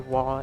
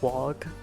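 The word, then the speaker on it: Waaagh: I find it funny whenever people pronounce a wa as a wog. No, you don't say the G. The G is silent.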